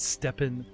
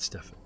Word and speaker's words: Stephen: pronouncing your cousin's name it's stephen oakenheart not stefan i don't think i've